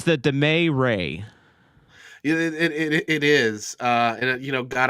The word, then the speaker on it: Damet: our leadership is now Ray and Damet. It rhymes. It's the Damet Ray.